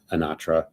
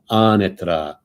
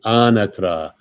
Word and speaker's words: Anatra: Italian, and she's like, don't say Anatra, like you're butchering that. That's the American version. You have to say it like Italiano, Anatra. And she had repeat after me, Anatra.